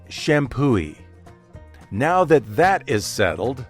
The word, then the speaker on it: Champoeg: it should be pronounced shampo IG right why isn't it shampoo H H is right the g is silent and the accepted pronunciation is shampoo now that that is